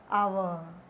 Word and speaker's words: hour: See, hover, so ha, H is silent here, so we are using and before the hour.